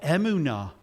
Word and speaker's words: Amana: it's quite interesting because Amana or Emunah as it's pronounced in Hebrew denotes the faith of